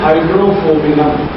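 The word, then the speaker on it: Hydrophobinum: दवा का नाम है हाइड्रोफोबिनम। मैं स्पेलिंग बोलता हूं, HYDRO, फिर उसके बाद PHO, P for parrot, parents, PHO, BI, ये भी वाला BINUM, हाइड्रोफोबिनम, ये दवा है।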